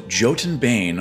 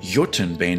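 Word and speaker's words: Jotunbane: translated as giant ah so jotin Bane or yotunbane depending on how you want to terribly pronounce it just means Giants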